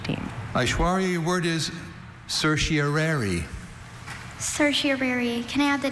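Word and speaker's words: certiorari: Cersiary. Can I have the language origin please? This word passed to English from Latin. Cersiary. Are there any alternate pronunciations? There is cersiary. Cersiari and cerseri.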